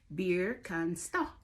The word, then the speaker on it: Birkenstock: a pair of these, then you would call it probably Birkenstock, right? Well, in Germany, they call these shoes Birkenstock. Birkenstock. Did I say that right? Birkenstock. That's how they say it in Germany, Birkenstock.